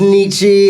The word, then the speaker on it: Nietzsche: Yeah, we got some Nietzsche heads out there. A lot of people think it's pronounced Nietzsche.